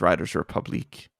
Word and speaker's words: Riders Republic: It's pronounced if it's from Montreal, it's Riders Republique. Ah, okay. Oh gosh. Or Riders Republique.